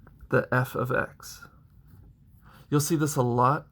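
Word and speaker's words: f(x): function of X is X minus 2 you pronounce that say the f of X you'll see this a lot moving into especially high school level algebra you'll call it f of X equals X minus 2 in this case f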